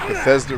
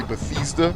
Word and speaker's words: Bethesda: Is Bethesda really Bethesda?